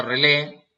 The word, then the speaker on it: relay: en pantalla relais llamado se escribe relay pero se presión se pronuncia a releer o contactor es un